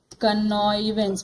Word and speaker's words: connivance: इसको प्रोनाउंस करते हैं कनॉइवेंस.